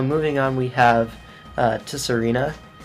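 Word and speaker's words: Tsareena: So, moving on, we have uh Tesserina. No idea if the T is silent or not. No, it's it is Zarina. Sarina. Zar Russian.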